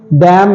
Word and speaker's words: damn: Okay, अगला है DAMN, डैम नहीं है, ये डैम है, डैम।